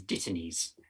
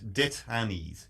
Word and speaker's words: dittany's: Dittany's. Dittany's with 2 T's. Dittany's. Yeah, so Dittany is any of a number of aromatic herbaceous or shrubby plants. And rhymes with Brittany.